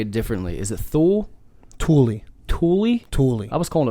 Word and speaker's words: Thule: I never heard you call it Tool in front of me. I would have called you a Tool. Thule.